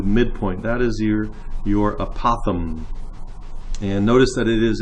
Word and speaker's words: apothem: sure you differentiate from the apothem that's how you pronounce that strange word not a possum that's an animal this is a Popham